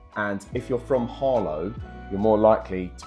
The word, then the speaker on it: Harlow: So there's a place called Arlo near us. In Essex, you don't really pronounce H's.